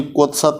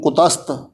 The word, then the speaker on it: कुतस्त: उच्चारण करन लग्या ਇਹਨੂੰ ਕਈ ਕੁਤਸਤ ਹੀ ਪੜ੍ਹ ਜਾਂਦੇ ਨੇ। ਕੁਤਸਤ ਪਾਠ ਜਿਵੇਂ ਹੋਇਆ, ਕੁਤਸਤ कहूँ देव धर्म कहूँ साधना के हर्म। कहूँ कुतस्त कुकर्म कहूँ धर्म के प्रकार हो। कुतस्त वाला भी थोड़ा अगेतर ला के कक्का ते कुकर्म वाला भी कक्के दो जरा अगेतर ला के फिर पाठ शुद्ध बनेगा उच्चारण ਇਹਦਾ।